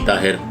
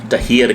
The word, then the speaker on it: Tahir: हैं, पाकिस्तानी, मेरा नाम ताहिर है। तो जब गोरे भी बीच में होंगे, गोरा जैसे मर्जी प्रोनाउंस करे वो उसकी हेडेक है। उनके लैंग्वेज में ते नहीं है, वो इसको तहियर कहे, जो मर्जी कहे, वो उनको छोड़ दें।